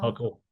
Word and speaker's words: buccal: But if you did a buccal, is that how you say it? Buccal? Buckle, buckle.